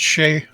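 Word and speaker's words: Skjei: oh apparently say sh it's pronounced Shay Brady Shay okay yep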